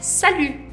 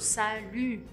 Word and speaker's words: salut: E aí a pronúncia é o U do biquinho. Salut, salut, salut.